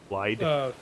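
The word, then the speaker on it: Blaidd: Blythe. When you talk to them, they say Blythe. They don't pronounce the D. They say TH.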